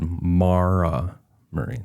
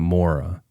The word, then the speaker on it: Maura Murray: She said Mara Marie, not Mora.